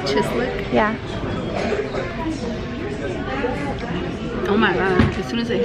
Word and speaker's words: chislic: to go eat Dakota steak house so it's pronounced chislic yeah oh my God as soon as it